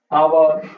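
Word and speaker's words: hour: Silent H से पहले बहुत सारे वर्ड होते हैं, जैसे ऑनेस्ट, ऑनरेबल, ओके, और आवर, एन आवर होता है, आपने लिखा देखा होगा।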